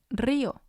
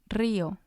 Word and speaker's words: río: Another example is río, río, which means river. And again, it has 2 syllables because the I has the accent.